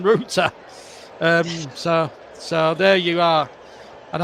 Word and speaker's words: Rutter: I better not get this pronunciation wrong because in the past I've commentated and then I've called him Rutter rather than Ruta.